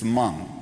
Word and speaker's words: Hmong: And she goes, "It's Hmong." The H is silent.